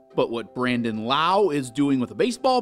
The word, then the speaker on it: Lowe: this season and last his often mispronounced last name rhymes with now but what brandon lau is doing with a